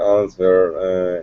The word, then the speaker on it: answer: It's like I read the answer in the answer. W не произносится. Answer.